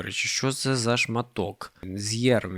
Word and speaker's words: Zjerm: З'єрм він читається. Правильно.